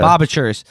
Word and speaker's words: Lubavitchers: Lubavitch, yeah, Lubavitchers.